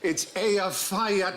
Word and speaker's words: Eyjafjallajökull: And I think, actually, the way you're supposed to pronounce it is... Hutch. If only. It changes it. Apparently, it's Eyjafjallajökull.